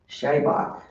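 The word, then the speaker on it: seabhac: and he told me that there is indeed a word in the Irish language shabbach which is spelled s e a b a c and that when spoken does sound like jh-hawk.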